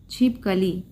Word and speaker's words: छिपकली: की बात करें तो कुछ लोग क्या होते हैं, छिपकली, ली पे हम बल दे रहे ना अभी, छिपकली, तो ली क्या है, ये सही उच्चारण है। दूसरा कुछ क्या, कोई कहता है कि छिपकली, तो यहाँ पे प पे अधिक, प वाले जो अक्षर है उस पे सबसे ज़्यादा बल दिया जा रहा है, छिपकली।